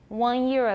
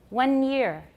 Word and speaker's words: one year: The first one is Taiwan English, one year. What am I doing? Nasalized vowel with no alveolar contact with the tongue tip for the N. There's no N there at all. There's no tongue tip touching the alveolar ridge. Going straight into the glide, one year.